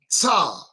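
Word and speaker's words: צח: dazzling in the NLV, is the Hebrew sa, pronounced tza.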